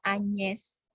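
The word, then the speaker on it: Agnès: Tapi kalau nama Agnes, ya, E-nya ada aksen graf yang bunyinya E, jadi dibacanya Agnes.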